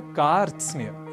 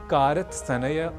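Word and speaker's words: कार्त्स्न्य: विशेष प्रयास करना है और इसे कारत सनेय कारत स्नेह आदि ना कहकर हमें कहना है कार् स्ने तो यह साधारण संयुक्ताक्षर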